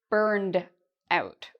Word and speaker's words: burned out: If we wanted to use an American pronunciation, we'd actually say burned out with a d sound at the end. Burned out. It has the same meaning as burnt out. The difference is in the pronunciation and the spelling. Notice this ends in ed, and it sounds like a d sound.